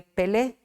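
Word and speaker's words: פלא: Es una palabra admirable que en hebreo se escribe Pelé, P-E-L-E, Pelé.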